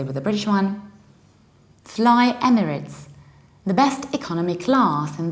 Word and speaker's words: Emirates: the correct pronunciation is emirates emirates with a reduced ending there is no a there is it Emirates